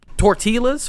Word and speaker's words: tortilla: Have you ate like tortillas, flour tortillas from scratch, nigga. Ain't no way this nigga just said Pronounce tortillas. the L. You pronounced the L, nigga?